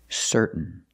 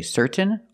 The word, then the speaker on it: certain: ending in t-a-i-n example certain you can say certain or certain but don't say certain it's certain what makes you certain that